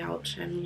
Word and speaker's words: Yelchin: I'm hoping that's how you pronounce his Anton name. Yelchin, yeah.